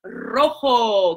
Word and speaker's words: rojo: It's rojo. Can you roll your R's?